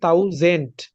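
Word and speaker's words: tausend: আলফাবেটের ক্লাসে আপনারা পড়ছেন টির মতন উচ্চারণ হবে রাইট টির মতন উচ্চারণ হবে তাহলে এটা হবে আইন তাও জেন্ট জেন্ট না কিন্তু জেন্ট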